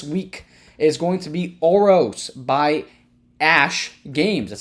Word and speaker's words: Oros: that's out this week is going to be oros by Ash games that's how you pronounce that Ash Ash games auros culture session